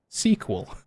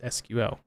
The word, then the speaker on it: SQL: horse's mouth mr bill gates that he uses sequel he's on video sequel in plenty of different places he does not use sql so right thought that was kind of and